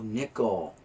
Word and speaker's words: Nickel: I mean, because it does say it like the coin. Oh, nickel.